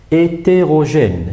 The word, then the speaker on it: hétérogène: Hétérogène, alors là, il y a trois accents. Alors, à la fin, il y a un E qui ne se prononce pas, gêne, donc il y a un accent grave ici.